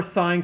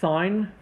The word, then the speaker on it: sine: the actual ways we write the function for sine cosine and tangent if we write out sine the long way we pronounce it sine not sin because it actually